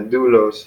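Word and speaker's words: δοῦλος: I think it's on the first syllable. Yeah, doulos.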